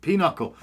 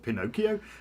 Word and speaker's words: pinochle: Cass has a is a pinochle. Oh God, it's spelt really weird. There you go. It's like, how do you say that? Pinocchio? That's pinochle, isn't it?